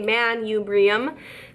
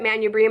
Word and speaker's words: manubrium: is called the manubrium manipura mind if I say it but I say manubrium that helps me spell it but the manubrium I